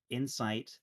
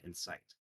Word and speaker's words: insight: i know the favorite my favorite example is insight and insight those are two different words i-n-c-i-t-e i-n-s-i-g-h-t and that's a true minimal pair in sight incite violence and insight i have insight into how ben thinks and right that's a stress minimal pair right correct that's a